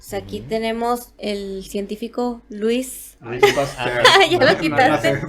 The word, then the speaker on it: Louis Pasteur: O sea, aquí tenemos el científico Louis. Pasteur. Ya lo quitaste. No sé pronunciar Sí, francés.